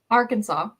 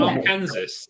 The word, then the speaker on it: Arkansas: It's a bit How do you say Arkansas? Arkansas. Is it not Arkansas? Is it not Arkansas? You know it's not Arkansas. That's how you say it in your head to remember how to spell it.